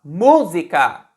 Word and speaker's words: música: Se a gente fala música, música, a sílaba tônica é mu.